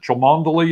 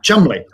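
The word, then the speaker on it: Cholmondeley: how to pronounce it chamondely is ah chumbly also chubby yeah that is perez you don't spell that c-h-o-l-m-o-n-d-e-l-e-y we do in england yeah that's like shame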